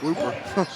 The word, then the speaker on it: Whooper: Xavier Whooper coming in for Caden Herbert. If that's spelled Whopper, 2 O's make the ooh sound.